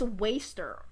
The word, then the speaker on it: WSTR: would have called it Worcester. I looked it up, apparently it's Waster.